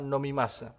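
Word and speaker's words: 飲みます: Tetapi jika Hegana di belakang ini diubah misalnya menjadi mimas ya sehingga secara keseluruhan kanji dan hioganya dibaca nomimas itu artinya sama minum tetapi itu bentuk ungkapan yang lebih sopan teman-teman.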